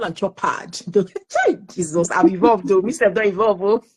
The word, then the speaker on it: Chopard: Chopard, but it's called Chopard. So diamond. Yeah, it's silent.